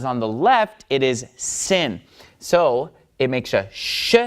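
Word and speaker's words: שׂ: Then it becomes pronounced sin, and it's a s sound, just like samech, all right?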